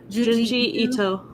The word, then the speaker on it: Junji Ito: Hey, I'm still doing detective work over here, so You might not be able to handle Junji Ito. That am I saying it right? Junji Ito.